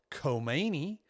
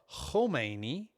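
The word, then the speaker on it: Khomeini: One is kmeni or homi that starts with a kh and that's like a hui and then there's a ki or ki depending on how you say it.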